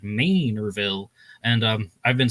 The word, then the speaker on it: Manorville: I was always saying Manorville, but somebody from Long Island wrote into my channel saying that, it's like, hey, Long Island commuter here. We pronounce it Manorville.